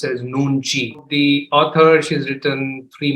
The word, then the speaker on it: Nunchi: anyone's beautiful picture right there so nunji is pronounced as nunji the author she's written three more books then